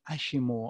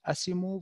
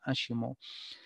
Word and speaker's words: ASIMO: Das steht für Mobilität von morgen, ja, Advanced Steps Innovative Mobility und das spricht man Ashimo auf Japanisch, also nicht Asimo, wie wir das jetzt lesen würden, sondern Ashimo.